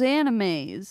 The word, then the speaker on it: anime: very sick Nicole hey remember when your stepmom pronounced anime anim is that Anaheim and what is that